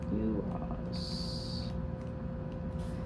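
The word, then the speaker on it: Uruz: Uras. Here we go. Uras is how it's pronounced. Again, not the U, but U. O-O-R-O-O-Z, Uras.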